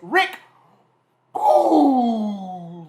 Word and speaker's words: Boogs: His name is Rick Boogs.